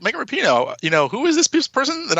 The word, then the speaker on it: Rapinoe: I was really only aware when Megan Rapinoe, is that how you pronounce that?